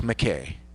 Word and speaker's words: Mackay: But it's McKay. McKay. I was told the way an American changed it and pronounces it, so. But in Scotland, it was Mackay, M-A-C-K-A-Y.